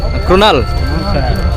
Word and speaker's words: कृणाल: कृणाल सुनाल कुणाल okay okay कुणाल Pandya A R silent है ना कृणाल ಸಿಂಧಿ ಒಂದು ಕ್ರಾಸ್ ಮಾಡಬೇಕು, ರಿವರ್ ಕ್ರಾಸಿಂಗ್ ಮಾಡ್ಬೇಕು ಇವಾಗ ನಾವು.